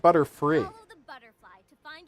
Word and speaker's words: Butterfree: Sorry, I don't speak butterfly. It's pronounced Butterfree.